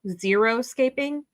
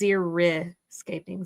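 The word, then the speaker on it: xeriscaping: A lot of people think zeroscaping is with an O, zero escaping, but it's zercaping.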